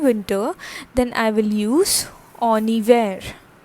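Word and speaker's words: en hiver: lecture as well that h is usually silent in french okay and the next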